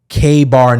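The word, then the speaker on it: KA-BAR: So now investigators believe that the murder weapon was something called a K-bar knife. It's spelled K-A-B-A-R knife.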